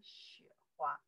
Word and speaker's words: 雪花: Xiǎo xuěhuā. Xiǎo xuěhuā, xuěhuā, xiǎo xuěhuā, right? Xuěhuā, okay, you can follow me pronounce it here, right?